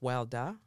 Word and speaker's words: Warda: I'll add in the wonderful interview that I did with Warda Farah, or pronounced Warda.